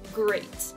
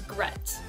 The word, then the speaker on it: great: let's take the word great ok grea T great it sounds like a long a but what I hear students say they say brett-brett it was gret instead of it was